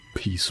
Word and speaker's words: Peace: I'm going to assume that it's supposed to be pronounced Peace, because I feel like Piss would be a little silly.